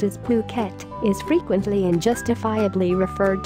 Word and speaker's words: Phuket: for yourself tehsil Fugate artists all courses in Phuket Thailand are fully accredited both internationally and also